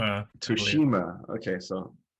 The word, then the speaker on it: Tsushima: Tsushima, I believe, Tsushima.